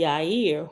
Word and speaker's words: Yahir: are appointed by the yair whom is the high priest reference number five says the Hebrew word yahir pronounced yair means enlightener and is